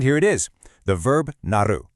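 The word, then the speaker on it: なる: And here it is, the verb naru, pronounced naru.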